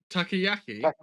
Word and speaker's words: takoyaki: It's like takoyaki, but Okay. Takoyaki. it's like Teriyaki.